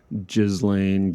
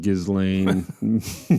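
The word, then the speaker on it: Ghislaine: can't be known but Jizlane Gizlane Maxwell whatever her name is I think you just ignore the s I think it's just galain galain you know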